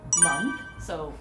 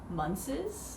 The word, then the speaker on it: months: so okay i'll do also one that is common for korean speakers which is the plural of month so months you know so i get that all the time yeah so i always hear monthses yes it's the same thing like the th and then s together they're like okay i